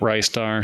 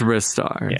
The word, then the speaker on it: Ristar: makes it very clear it's not Ricear. So I switched. It's wristar. So in like in Japanese. Yeah. Yeah. It's spelled out for Okay. Wristar like risoto. like Risoto.